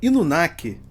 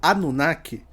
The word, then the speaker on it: Inunaki: A vila Inunaki, muitas vezes chamada na internet brasileira de a Vila Anunnaki, por erro de pronúncia ou tradução, é uma das lendas urbanas mais famosas e assustadoras do Japão.